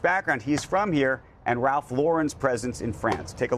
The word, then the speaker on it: Ralph Lauren: but in terms of how you say it it's Ralph Lauren Ralph Lauren Laur let's just say